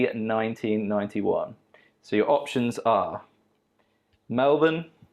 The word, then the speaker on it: Melbourne: so your options are melvin pronounced correctly not melbourne auckland sydney or perth there's